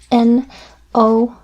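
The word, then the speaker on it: nom: no no and actually if you write no like this and the n o m like this no it's pronounced the same but this one means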